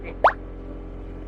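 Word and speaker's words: Philae: sur l'île de filet filet ou filet je pense que ça se prononce filé pour visiter ce temple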